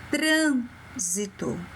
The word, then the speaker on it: trânsito: Trânsito. Qual foi a sílaba forte? Muito bem, se você falou tran, você acertou. Trânsito é a sílaba mais forte, é tran.